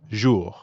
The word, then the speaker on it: jour: english word measure and the r at the end of ju doesn't really sound like an english r you should feel that r in your throat zhu yeah almost like you're gargling or clearing your throat jour time for another